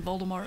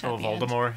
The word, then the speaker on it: Voldemort: like hi is so wrong apparently we've been mispronouncing Voldemort wrong all these years what what what apparently